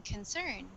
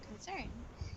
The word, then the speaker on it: concern: Concern. Concern. Yeah. So the syllable stress there, it's on the second syllable. Concern.